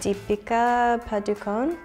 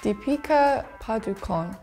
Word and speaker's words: Deepika Padukone: In the USA, I think we would say like Deepika Padukone. In England, we would probably say Deepika Padukone.